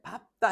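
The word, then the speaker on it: 밟다: 근데 밥다 해야 되더라. 밥다. 리을 비읍은 리을로 발음되는데 밥다만 밥고 밥다 이래 해야 돼.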